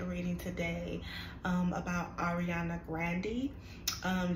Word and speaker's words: Grande: today um about Ariana Grandy um that is how you pronounce her name is grandy it's really not grande we just uh assume that it is um so um